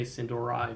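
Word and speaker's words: Sin'dorei: a render render whatever I guess it's pronounced Cindereay but some will say Sindorai because Americans the blood elves reign supreme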